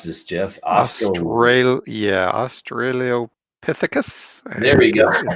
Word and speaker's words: Australopithecus: There is Lucy, and I'm not even sure how to pronounce this, Jeff. Australopithecus.